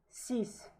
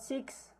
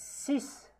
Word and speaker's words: six: Sank sis. Oh my god. It's not six. It's sis. Yeah, we pronounce it as sis.